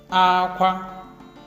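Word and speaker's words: ákwá: Aqua. Aqua. That is high, high.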